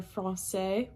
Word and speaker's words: français: a little squiggle, and it's pronounced like an S. So whenever you see a C with an accent cédille, you pronounce it as you would if there were an S there.